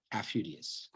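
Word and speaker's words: Aufidius: Um it is mentioned that Coralanus does respect the Vshi commander Tulis aphidius or a yeah afudius that's how you say it.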